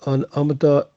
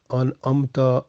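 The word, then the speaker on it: أنعمت: So an amta is better, and that is the right word, correct pronunciation, an amta alaihim. So this way, be careful. No need to change ta with tu.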